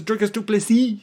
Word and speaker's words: Du Plessis: grew up in South Africa my name is Du plessis anyway uh that's it for the corrections you